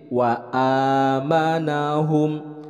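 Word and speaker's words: وَآمَنَهُمْ: Ini adalah alif, itu keluarnya dari aqsal halqi, dari pangkal tenggorokan. Jadi dibacanya jelas, bukan wa atau wa tapi ini wa amanahum.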